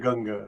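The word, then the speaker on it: Otoh Gunga: Odunga.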